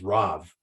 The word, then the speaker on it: Rav: to speak so in in Hebrew the pronunciation of Rabbi is RAV and so what he